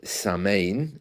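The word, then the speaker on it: Samhain: come from the Celtic Festival at sin pronounced samain in some parts of the Celtic world uh when I see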